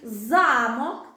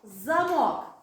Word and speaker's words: замок: але мають одинакове значення замок замок бачите тут уже навіть різні наголоси замок - Це будинок Правильно а замок це який дверний замок так добре але ми казали